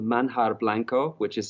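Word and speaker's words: Manjar: much there's a restaurant in central Merida called manhar Blanco which is spelled m a n j a r so it's like mja but it's pronounced manhar we'll get you a link link for that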